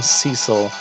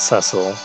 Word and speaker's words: Cecil: I'm going to call him Cecil, not Cecil, like the Final Fantasy IV for the DS game pronounces.